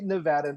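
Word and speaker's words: Nevadan: Every Nevadaan, did I say it right? Good job. Nailed it. Every Nevadaan deserves the ability to plan their family, protect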